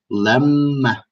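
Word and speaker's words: لمّا: Like, for example, in my last video, the one with the morning routines, I said lemma, not lima. Now, lima is different, but lemma is the right pronunciation.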